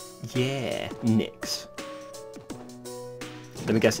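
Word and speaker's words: Nyx: all over the city the one with the Knicks logo oh so that's how it's pronounced I just like the logos design the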